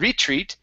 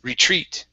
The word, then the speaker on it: retreat: the word retreat okay so our stress is at the very end instead of retreat it's retreat retweet okay very nice um